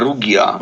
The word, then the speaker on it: Rugia: So the new album is called Rugia. Have I said it correctly? Rugia? Actually, I pronounce it Rugia.